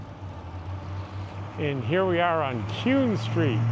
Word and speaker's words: Kuehn: And here we are on Kuehn Street. It's spelled K-U-E-H-N. You'll hear that a lot in Kuehn Street.